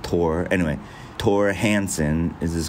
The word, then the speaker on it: Thor: it's I mean it's it's spelled like Thor but it's like t-h-o-r but I think it's pronounced Tor anyway Torah Hansen is